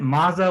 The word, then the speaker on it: Mazo: want to ask you is it mazo or mazzo yeah the first how you said it's fine yeah okay yeah because